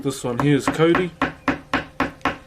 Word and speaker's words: Kauri: Like this one here is Cody. So it's spelled Kauri.